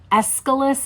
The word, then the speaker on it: Aeschylus: I think Aeschylus is how you say the name of the Greek poet that he loved the most.